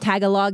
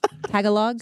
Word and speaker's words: Tagalog: Tagalog is how you say it, right? Tagalog.